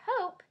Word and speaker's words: hope: hope and hop and the word hope is special because it has a bossy e that tells the o to say its name hop does not have